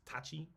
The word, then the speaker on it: tachi: school Tai Chi's sword which is not Tai Chi like the the Chinese martial it's Tachi it's it got a slightly different pronunciation um and it's not